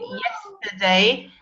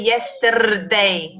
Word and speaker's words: yesterday: A little bit yesterday. We don't really say yesterday. We say yesterday. Yesterday. We don't pronounce letter I, it's schwa.